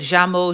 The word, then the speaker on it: llamo: But if you hear someone from Argentina or Uruguay pronouncing it llamo, lluvia, that's perfectly fine too.